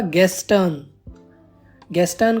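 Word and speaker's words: gestern: बाद है हमारा गेन यहां भी आर की साउंड नहीं देनी है यह होगा गेन को हम यस्टरडे कहते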